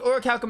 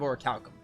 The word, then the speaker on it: Orichalcum: seeing an h after the p but there was no h okay with or calcum in hand add on the others returned to castaway village all right so it's actually not that hard to pronounce it turns out i just thought i saw an h ability to defend themselves